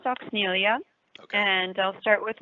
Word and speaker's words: Oxnyllia: It's pronounced Oxnyllia, Okay.